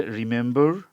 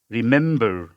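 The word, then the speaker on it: remember: তাহলে উচ্চারণ সম্পূর্ণ মিলে হবে আন্ডারস্ট্যান্ড, আন্ডারস্ট্যান্ড, আন্ডারস্ট্যান্ড, এরকম উচ্চারণ হবে আর কি। এরপর হচ্ছে রিমেম্বার, আর শর্ট ই, স্টেজ হচ্ছে সেকেন্ড সিলেবলে, এম, এ, মেম, ব, আ, র, বর। তাহলে হচ্ছে রি শর্ট হবে রিমেম্বার, এরকম উচ্চারণ হবে।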